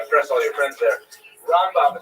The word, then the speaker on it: Rambam: Rambam is pronounced with the emphasis on the first syllable ra and raan is pronounced within the second syllable raba and ramban.